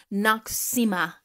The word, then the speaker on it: Noxzema: I mentioned it in my TikTok way back when, and I actually pronounced it wrong. Noxzema.